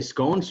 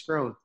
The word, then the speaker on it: Scrone: okay what I say scones groan what is it yeah I'm not an Italian dessert buddy my last name's grown dude I'm gonna I'm